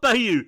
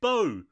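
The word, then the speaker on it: Beau: film yes pronounce it please please for me pronounce it one more time it's not be it's Bo it's be bo is afraid if it was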